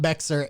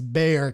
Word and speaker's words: Bexar: to you try and figure out how to pronounce Bayer. It's not Bexar, it's Bayer County.